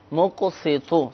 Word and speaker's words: مقسط: گی۔ یا مقسطو، ہاں، یا میم مقسطو، قاف سین تو۔ تو، مقسطو صحیح تلفظ کے ساتھ پڑھنا ہے اگر فوائد حاصل کرنا